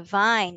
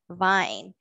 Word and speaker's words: vine: And just like in vein, our letter E is silent or quiet at the end. We say it as vine. Vine.